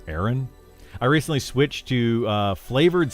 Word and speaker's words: Aaron: It's pronounced Aaron.